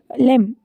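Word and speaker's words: lamb: कि आ जाता है है लेम एल ए एम बी लेम जिसमें ये बी जो है वो साइलेंट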